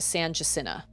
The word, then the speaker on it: San Jacinto: it's really bad like there's a street in austin called san jacinto and everybody just calls it san jacina or guadalupe everybody calls